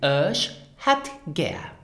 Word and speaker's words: Ech hätt gär: For example, as well for an appointment, then you would use Ich hätt gern and pronounce it Ich hätt gern.